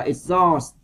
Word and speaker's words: exhaust: Câu C các bạn đọc là exhaust. Rồi âm H của chúng ta cũng không đọc luôn.